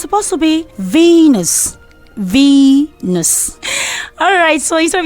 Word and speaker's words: Venus: Most people say Venus.